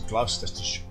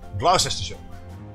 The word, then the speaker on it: Gloucestershire: It's Gloucestershire. Gloucestershire. I keep on pronouncing it as Shire, but it's not Shire.